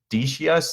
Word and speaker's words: Decius: I should always Google these guys how to pronounce these names before I get here it's a DDD chess Decius it's Dec I u.s.